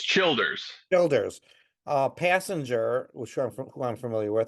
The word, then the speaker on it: Childers: with uh Tyler Childers is that how you pronounce his name CH it's Childers Childers uh passenger which who I'm familiar with